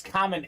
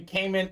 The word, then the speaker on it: Kamen: names in this break my name is common they call me Cayman so I'm used to it I bet your